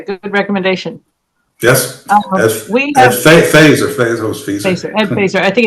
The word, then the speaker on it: Feser: He pronounces it Feser.